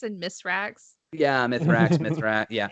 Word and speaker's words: Mithrax: I keep being told I pronounce it wrong. Mithrax and Misrax.